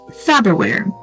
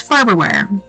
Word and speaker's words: Farberware: My daughter just brought it to my attention that it's spelled Farberware. Myself, my wife, and my daughter all thought it was Faberware. Are we the only ones? 1000% it's Farberware.